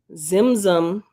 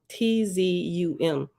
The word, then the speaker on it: Tzimtzum: Zimzum, I'm sure the T is silent, Tzimtzum, Zimzum, self-constricted to make